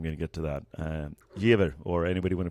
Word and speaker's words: Jever: Jever, or anybody want to pronounce it in a better way? Jefer. Jefer. Sounds like a curse. V is an F in German.